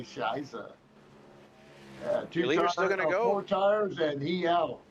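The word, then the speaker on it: Scheiße: Just imagine it just depends on your pronunciation there. Yes, in Germany we say Shiza.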